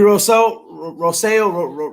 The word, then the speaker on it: Rousseau: Gregory Rousseau is how you say.